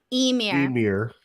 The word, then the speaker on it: Ymir: The proper pronunciation. Emir.